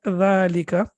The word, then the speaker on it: ذلكَ: but then we when we pronounce it we prolong it for two seconds and we say the